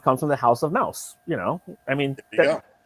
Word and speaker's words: Maus: guy so he says okay because he's got a lot of self-respect for me mouse just work actually mouse is the actual pronunciation of m-a-u-s so yeah that's why